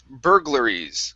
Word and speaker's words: burglaries: Next up, we have the word burglaries. Okay, remember this UR, that's going to be like an ER sound. So it's burglaries.